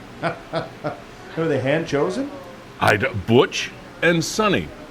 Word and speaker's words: Suni: Butch and Sonny. Now, you might pronounce it Suni. It's S-U-N-I, but...